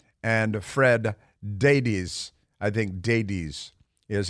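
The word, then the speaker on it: Daibes: Fred Davies I think deities is how it's pronounced it's like Davies but with a d a d and a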